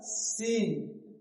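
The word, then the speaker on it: scene: कुछ वर्ड्स में सी लिखा होता है लेकिन उसकी साउंड नहीं आती है। एग्जांपल जैसे सी क्या लिखा हुआ है? सी तो यहां एस जो है वो क्या है? एग्जांपल जैसे यहां क्या लिखा हुआ है? सीन। क्या लिखा हुआ है? सीन। तो यहां जो सी है वो क्या है? साइलेंट।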